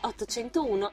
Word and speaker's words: 801: Un altro sinonimo utilizzato per yaoi è 801, in quanto proprio tale numero può essere pronunciato come yaoi. La lettura contratta di 8 da ya, lo 0 vale o e l'1 i.